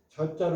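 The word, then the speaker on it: 諸: 이런 의미를 하 이거 이런 때는 발음이 이런 때는 제가 아니라 저자로 읽는다 지어 지어 줄이면 지어 하면 저 아닙니까 저자를 저자를 읽는다 여기서 저라고 읽어야 된다 그러니까 뭐뭐에 이 숫자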